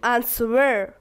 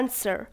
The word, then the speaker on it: answer: داریم answer در کلمه در تلفظ کلمه answer دقت کنین که ما دیجا W خوانده نمیشه نخواناست نمیگم answer فقط میگم answer the questions با سوالات